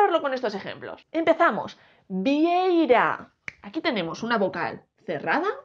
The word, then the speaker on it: vieira: palabra llana decimos vie El golpe de voz está en la primera sílaba no en la última